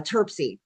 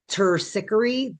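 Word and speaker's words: Terpsichore: Um, so other things, this is TPS, uh, Turpsy, and I'm not pronouncing her name right. Her name is Turpsy. The actual Greek pronunciation is Turici or Turpi or something like that.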